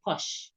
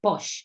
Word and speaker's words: Porsche: In Namibia, we say it's a Porsche. We pronounce it as a Porsche.